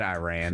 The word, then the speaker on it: Iran: Or I've said Iran like my whole life. Yeah, it's hard to. I gotta catch myself. I understand, Iran. And I'm probably saying it wrong, sorry. but it's a not an I.